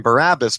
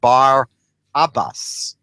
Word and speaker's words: Barabbas: Now most Christians or most readers pronounce his name Barabbus but really the correct pronunciation would be Bar Abbas um which translated means the son of the father which is a very